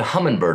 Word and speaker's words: Humminbird: tom answered well the humminbird of course but with his southern drawl he could not pronounce the g and so it became known as the hummingbird sometime between 1974 and